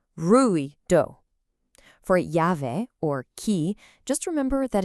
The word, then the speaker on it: llave: For llave, or key, just remember that in Spanish, that double L almost always sounds like a ya in English, so it's llave.